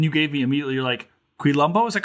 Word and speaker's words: Quilombo: You're Quilombo. Is that correct? Am I pronouncing that right? Yeah, Quilombo.